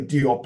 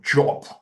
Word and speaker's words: Diop: And then in a more polished way, Sheikh Anta Diop. I mean, we say Diop in the English-speaking world, but apparently it's pronounced Jop.